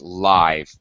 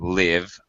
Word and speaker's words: live: Uh one thing uh be careful of this word live. Used as a this is very confusing. I know. Used as an adjective. It's live not live. Um the verb is to live. Uh I lived in a small town. Uh but live music.